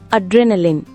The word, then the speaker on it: adrenaline: Hi friends, இன்னைக்கு நம்ம என்ன பார்க்க போறோம்னா அட்ரெனலின். இந்த வேர்டை எப்படி ப்ரொனவுன்ஸ் பண்ணணும்னா லின்.